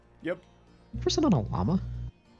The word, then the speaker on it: llama: Person on a llama. It's pronounced yama.